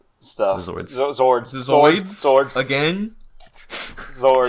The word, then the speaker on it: Zords: They just announced the Zoids stuff. The Zords. Zords.